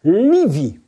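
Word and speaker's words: לבי: Et 42, ça a un autre mot qui vaut 42 et qui s'appelle, que l'on prononce Livi. Livi, qui signifie mon cœur.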